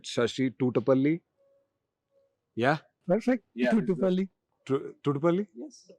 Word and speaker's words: Thutupalli: I'll try to pronounce his name right. Shashi Thutupalli.